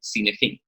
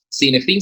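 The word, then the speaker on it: Cynefin: Aquí entra entonces la herramienta que se conoce como Cinefin. Por alguna razón ahí voy a ajustar el título. Cinefin se escribe C-Y-N-E-F-I-N. Cinefin, va con Y al inicio.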